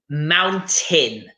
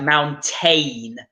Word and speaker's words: mountain: said Angela was about Mountain mm-hmm because again it looks like we're supposed to be pronouncing the a so we would get this like mount Ain but no you need to be saying mountain in mountain mountain excellent